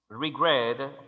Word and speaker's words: regret: d plan si digo regret regret tiene fasis de sonido en la segunda sílaba regret tiene consonante vocal